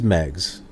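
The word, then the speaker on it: Meigs: go Xia's then some eggs so it is Meg's interesting so the whole time growing up I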